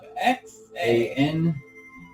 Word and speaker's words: Xanagos: Spell it. Yep. X-A... Oh, X! Jesus. X. A-N-A-G-O-S.